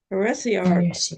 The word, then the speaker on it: heresiarchs: How do you say that? Heresiarchs. Heresiarchs, Yes.